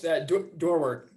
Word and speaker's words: Dorwart: I'm going to be introducing Tom Dorwart. Did I pronounce that correctly? Close. Dorwart.